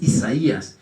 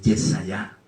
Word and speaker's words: Yesayá: yo quiero traerlo porque no es Isaías, es Yesayá. Así se debe pronunciar, así se debió transliterar, así se debió traducir.